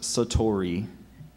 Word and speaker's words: satori: of Zen Buddhism Satori are there any other pronunciations just Satori s a t o r i Satori that's